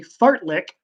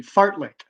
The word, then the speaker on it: fartlek: the activity called a fart lick what are you doing so what activity are you gonna be participating in if you are doing a fartlek yes I'm pronouncing that correctly fartlek what sport or activity